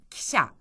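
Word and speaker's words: 汽車: 기차를 말할 때는 기샤 기샤 기샤 기차 발음이 좀 비슷하죠.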